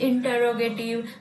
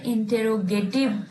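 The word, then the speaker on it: interrogative: और मैं एक और बात बता दूं कि जिन्हें हम सब बचपन से इंटेरोगेटिव पढ़ते आए थे उसका एक्चुअली में प्रोनाउंसिएशन होता है इंटरोगेटिव। और रॉग जो है वहां पे हम थोड़ा एम्फोसाइज करते हैं, इंटरोगेटिव।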